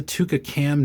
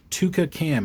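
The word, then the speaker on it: twca: one of those things Tua cam it's spelled TW WCA and that is again it's a Welsh word so um this has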